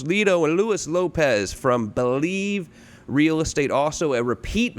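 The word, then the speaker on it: Blive: Believe Real Estate, but it's spelled B-L-I-V-E. Where does this concept come from?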